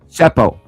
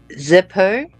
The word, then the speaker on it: Seppo: Seppo. Zeppo. No, S-E-P-P. Spell it.